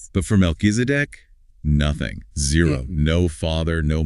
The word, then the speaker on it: Melchizedek: MelkiseDC. Right. In Hebrew, Melkisedc.